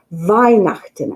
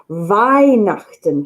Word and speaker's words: Weihnachten: Weihnachten. And if you see it written down, it'll be spelt with a W. They pronounce their W's as a V.